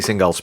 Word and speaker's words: Singal: Singal, yes.